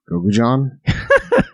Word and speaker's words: gochujang: Yeah, I had that typed down in my notes here because it's gochujang. Is how you're supposed to say it. Gochujang, not gochujang. Gochujang. I just had a funny little. I was like, gochujang.